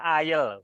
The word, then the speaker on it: aisle: Kamu tadi nggak perhatikan cara bacanya ya. Ini dibaca aisle.